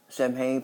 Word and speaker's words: Samhain: Samhain, pronounced Samhain, which is first and most important of the 4 quarter days of medieval I can't pronounce.